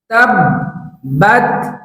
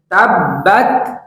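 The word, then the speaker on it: تَبَّتْ: শাইতানির রাজিম বিসমিল্লাহির রাহমানির রাহিম তাবত তাব্বাত তাব্বাত এইভাবে করে আপনি 10 বার বলুন এই শব্দের উচ্চারণ হচ্ছে তাব্বাত তাব্বাত এই শব্দের অর্থ হচ্ছে ধ্বংস হোক শব্দটি আমার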